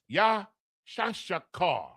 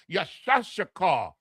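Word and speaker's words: Issachar: Issakar H3485 the Mexican so-called Mexican the yah the sha the sha the ka and the rah properly pronounced yashakar yashakar is yashashakar the Mexican and his name literally means he is hired.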